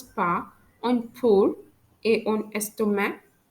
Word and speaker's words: estomac: en pour et en estomac, which means the letter C is not pronounced in pork and in stomach. So when I pronounce these two words, pour and estomac, you can hear that I don't pronounce the letter C. We don't pronounce it as pores and stomach. We pronounce it as pour, stomach, because C is a silent letter according to the French language.